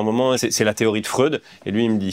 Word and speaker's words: Freud: Et lui, il me dit non, ça se prononce Fred, je suis vraiment sûr et tout. Et moi, je dis ah merde, j'ai dit Freud depuis le début.